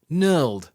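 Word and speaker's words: knurl: leared a new word Nur spelled with a silent K and N means a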